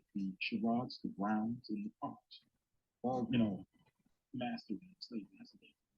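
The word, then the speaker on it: Carr: Carl, as in C-A-R-R. His younger sister has the last name C-A-R-R as well, too. There's a common occurrence in our family. The Sherrods, the Browns, and the Carls.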